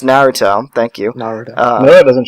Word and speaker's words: Naruto: Okay, it's not pronounced Naruto, by the way. If you pronounce it like that, you're wrong. You should just honor kill yourself. I don't see any other way around it. It's Naruto.